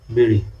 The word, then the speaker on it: বিড়ি: বিড়ি কিন্তু উচ্চারণ হবে ডয় বিন্দু রস্যিকার রি, যেটা বিড়ি। এই জন্য মানে বানানটা ডি দিয়ে, কিন্তু উচ্চারণটা ডশিনোরার মতো আর কি।